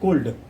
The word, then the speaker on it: could: Here L is silent, students. We cannot read it could. That is could, and that is would.